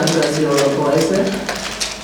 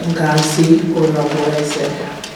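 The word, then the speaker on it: Ngozi Orabueze: Ngozi Oroboeze. Dr. Ngozi Oroboeze, O-R-A-B-U-E-Z-E, Ngozi.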